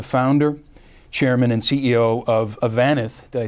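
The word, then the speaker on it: Avanath: Darrell is Chairman of the National Multifamily Housing Council, as well as the founder, Chairman, and CEO of Avanith.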